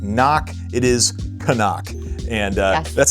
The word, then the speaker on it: Katadyn: Uh I wanted to dispel any rumors right now about how one actually pronounces this brand. It is Katadyn. It is not Seenak. It is not Knock. It is Katadyn.